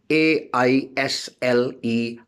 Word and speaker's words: aisle: In aisle, A-I-S-L-E, aisle, aisle, S is silent.